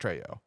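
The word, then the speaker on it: Trejo: played by Danny Treo is it tro or Treo I think he's tro it's probably tro he's no he is Mexican I believe he's Latin nonetheless and it would be pronounced tro um yeah I wrote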